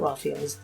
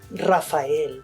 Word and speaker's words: Raphael: new field grade officers my name is not Rafael it's Raphael and growing up my parents made sure that I knew how to pronounce it correctly Rafael my dad